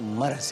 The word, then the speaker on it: مرض: ایک تو یہ مرض نہیں ہوتا, مرض ہوتا ہے. صحیح جو تلفظ ہے وہ مرض ہے, مرض نہیں. مرض کوئی ورڈ ایگزیکٹ نہیں کرتا, مرض.